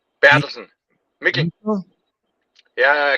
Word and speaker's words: Mikkel: It's Mikkel Bertelsen. Mikkel. Mikkel? Yeah, kind of like not nickel, but Mikkel. Mikkel. Mikkel, like pickle, nickel, Mikkel.